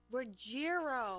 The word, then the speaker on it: Ruggiero: This is Too Many Times by Ruggiero. Did I say it right? Ruggiero.